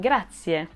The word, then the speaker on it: grazie: And it sounds like e at the end of the word, so remember that, grazie.